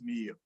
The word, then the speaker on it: Mio: It's not Mayo, it's Mio. Thank you so much for sharing that.